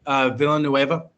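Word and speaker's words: Villeneuve: Same with, and I'm not going to pronounce this right, and I never do it. Villanueva, the director of Dune.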